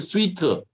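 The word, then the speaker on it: suite: 그리고 얘네들은 프로토콜 슈터 또는 프로토콜 스위트, 발음을 슈터라고 하기도 하고 스위트라고 하기도 해요.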